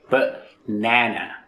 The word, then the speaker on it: banana: But for banana and computer, we are stressing the middle syllable. B-nana.